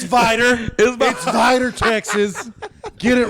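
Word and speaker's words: Vidor: So what's the small town vidder you speak of? I like how I immediately corrected just me. Uh it's Vider.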